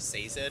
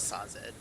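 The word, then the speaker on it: Sazed: last time and it's it would be pronounced seed but seed would pronounce it differently and it's not SED well they can suck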